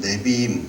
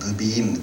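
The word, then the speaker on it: נביאים: 부르는 책들이 있어요 여기에는이 히브리 말로는이 네비임 또는 발음에 따라서 뭐 느비임 그렇게 말하게 네이라 말하는데요이 책들은 어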